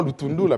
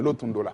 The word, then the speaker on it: Lutundula: Lotundola Penapala est député de Katakokombe. Bon, j'ai prononcé comme on prononce chez nous Kasaï. Hein? On ne dit pas Lutundula, mais Lotundola.